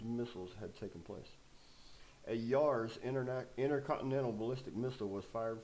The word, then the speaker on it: Yars: A Yars intercontinental ballistic missile was fired from a test